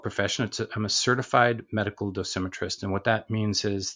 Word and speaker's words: dosimetrist: Is it a dosmetrist or how do you? Dosimetrist, right? So Dosimetrist. Okay, yeah, so tell us about that.